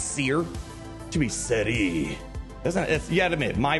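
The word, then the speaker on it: Cere: hands probably bigger news I learned how to say this name correctly so I said my polish pronunciation kind of kicked in there and boy did that really tick off a lot of people I am happy to announce the way to say this name is Seer June thank you thank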